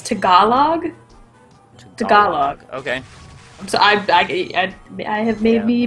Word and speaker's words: Tagalog: Tagalog. Okay. So I have maybe been mispronouncing it all this time.